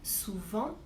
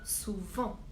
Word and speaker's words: souvent: Par exemple, pour l'adverbe souvent, je ne dis pas souve, mais bien souvent.